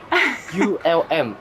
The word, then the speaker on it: Ulm: in Germany oh it's difficult to pronunciation did pronunciate okay just three letter u l and m u l m yes it's between stutgart and Munich just in